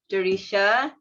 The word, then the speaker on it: Derisha: bit yeah hi everyone my name is jurisha that's how you pronounce it if some of you